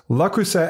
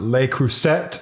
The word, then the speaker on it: Le Creuset: shouldn't pronounce the T the T was pronounced by the guy with the accent doing the official video for the company so that's the way